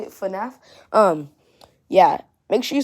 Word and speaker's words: FNAF: FNAF.